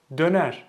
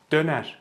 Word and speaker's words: döner: So they say Döner instead of döner. So don't stretch it out, okay? Just keep it tight. Döner.